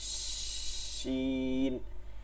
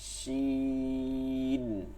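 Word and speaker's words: ش: জিব্বা আর তালুর মাঝখান থেকে বাতাসটা চলতে থাকবে, ঠিক আছে, এরকম জিব্বা তালু এর মধ্যে থেকে একটা হালকা চিকন করে বাতাস চলতে থাকবে, শিন।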